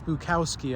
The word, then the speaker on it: Bukowski: there's a good uh Charles Bukowski I believe is how you pronounce his name Charles bukowy quote that